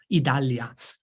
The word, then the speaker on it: Idalia: Idalia? Idalia, like Italia, but with a D, right?